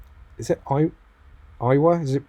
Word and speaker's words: Iowa: - is it quite I was it is it pronounced I wa I'll probably get a butcher some of these names English is not my strong point Iowa definitely Iowa pretty sure anyway we're gonna